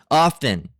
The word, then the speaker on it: often: Often. Um, now most people say often, right? The t basically died.